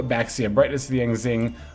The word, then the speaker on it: Baxia: Oh, this is also pronounced Baxia, I think, not Baxia. You don't hard pronounce the X in this, so, I mean, I'm